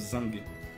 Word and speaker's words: zinc: En plus, ça se prononce même pas zinc, ça se prononce zing.